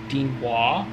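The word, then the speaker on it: 電話: So Dean goes down Dean and then Wah goes up. Dean Wah?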